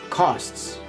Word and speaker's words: costs: These next words are for pronunciations. Ready? Here you go. 3 words. First one, labor costs.